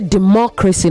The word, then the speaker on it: democracy: You say democracy, not democracy. Democracy.